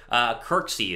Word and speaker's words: Kirksey: I am all for Christian McKinney, or not Christian McKinney, Christian Kirksey is how you say his last name there out of the Browns.